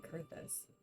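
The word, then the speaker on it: Coerthas: Now, least of all, the Ixel have summoned Garuda once more, and she torments the people of Curtis as we speak. Well, that's how you pronounce it. Kurtus.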